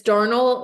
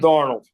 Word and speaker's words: Darnold: that's Sam I always it's Darnell or is it Darnell I always say it wrong D darnold darnold darnold darnold yeah see I